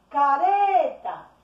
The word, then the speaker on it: careta: Careta. Eu pronunciei a palavra careta, como se estivesse chamando alguém, e descobri que o ré é a sílaba tônica desta palavra.